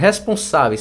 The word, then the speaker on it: responsáveis: Quem é a sílaba tônica? Responsáveis! Tá vendo que é o Sa? Então, ó. Essa aqui é a sílaba tônica, ó, o sa.